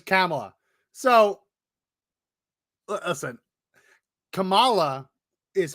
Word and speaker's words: Kamala: and he and he says camela so listen Camala is how I've often heard it said for from Indians right yeah Kamala you don't really hear Kamala um but that's